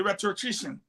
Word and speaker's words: rhetorician: That word is rhetorician, not rhetorician. Rhetorician. No. Pronunciation very spelling remains constant. Spelling remains constant. R-H-E-T-O. All right, that O in between dash. R-I-C-I-A-N. The T-O is silent.